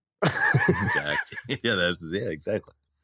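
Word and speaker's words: Darhk: He's like, "Can we pronounce it Dak?"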